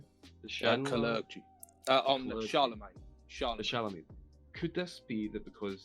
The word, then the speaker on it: Charlemagne: Could it possibly be that these politicians who, how do I pronounce this award? Sorry, the Clergy. On the Charlemagne. The Charlemagne.